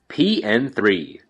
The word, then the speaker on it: P.N.03: pn3 the zero is silent seriously don't say the zero it's like calling a